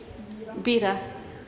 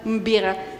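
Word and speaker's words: μπίρα: Bira. Not bira, but mbira.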